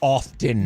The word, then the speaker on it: often: I will say like you don't push the You don't pronounce the T in often. You don't go around going often.